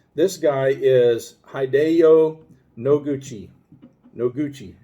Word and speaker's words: Noguchi: guy is hijo noguchi no gucci is how you say his last name hideo first name noguchi